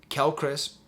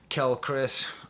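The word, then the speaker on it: Quelle Chris: Kel Chris, or Quale Chris, I guess is how you're supposed to say his name, has the best production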